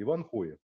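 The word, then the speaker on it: Ivanhoe: и называются Иху вот пишется Иван хои но у нас это H читается как г поэтому и говорят рыцарь авенга Да а на самом деле Вот был Это Иван хое то есть то ли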